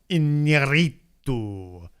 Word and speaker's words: Iñárritu: his new movie with Alejandro Iñárritu. Which is how you pronounce it. I actually would pronounce that with the accents and stuff.